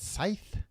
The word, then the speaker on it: scythe: Is that how you say it? Scythe. Like the thing the grim reaper has.